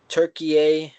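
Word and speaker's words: Türkiye: Uh Turkeye or Turkey, whichever you want to pronounce it, they ended up being last in their group and what people thought they would win group D.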